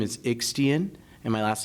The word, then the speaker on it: Yxstian: my first name is ixtian and my last name is in Spanish it's actually eastian which is similarly pronounced to Christian in Spanish it's a very difficult